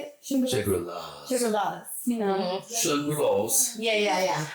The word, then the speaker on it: Shangri-Las: Shangri-Las, is that how you say it? Shangri-Las.